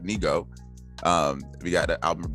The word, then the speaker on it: Nigo: We have a new album from Nigo, not Nigo, which is apparently a separate artist, but Nigo.